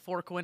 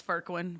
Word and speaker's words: Fourqurean: It's going to look like Forquin. It's Furquin.